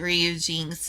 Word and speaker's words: Ryujinx: Everyone else seems to pronounce it Ryujinx. I'm just a weirdo who likes saying Ryujin.